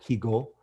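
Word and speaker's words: Jigó: known as Luis Gigo, spelled in Spanish oftentimes is J-I-G-O with an accent on the O, Higo, but Gigo, G-I-G-A-U-T.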